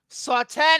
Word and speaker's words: Saw X: to play a game Saw 10 I still see it game oh sawx excuse me not pronounced sawx so much one of